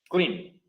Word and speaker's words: clean: Clean. Una sílaba.